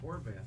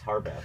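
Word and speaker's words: Harvath: you know Brad you may write these uh horbath books harbath yeah yeah obviously you've read them well you may write big fan I am a big fan wait did I mispronounce it yes hor it's harbath not horbath oh h r not H it's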